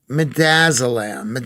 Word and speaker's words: midazolam: Midazolam. Thank you, Chartel. She says that's the right pronunciation.